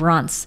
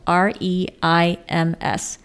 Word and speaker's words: Reims: to the town of Reims, spelled R-E-I-M-S, but pronounced Reims with a rolling R. Reims would be incorrect. Say France with a French accent and then drop the F.